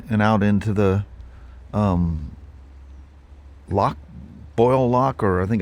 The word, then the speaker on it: Lough: out into the um Lough Foyle Lough, or I think it's Lough Foyle. It's spelt um l o u g h, but it's pronounced Lough, like, you know, a lock on a fence something like that.